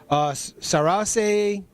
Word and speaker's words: Saoirse: And it's Susie Salmon, and she's played by Saoirse Ronan. Is that how you pronounce that?